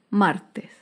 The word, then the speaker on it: martes: Por último, otro ejemplo de palabra grave sin tilde es la palabra martes. Martes se acentúa en la penúltima sílaba, pero no lleva tilde porque termina en S.